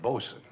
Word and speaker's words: boatswain: Paradise is that correct I was the after deck Boson the court takes judicial notice of the correct pronunciation I stand corrected now